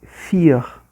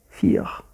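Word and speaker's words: vier: mais parecidos entre si, como o V de fear, né? quatro. Ele tem um som de f. É bem parecido no som o inglês com alemão. For fear.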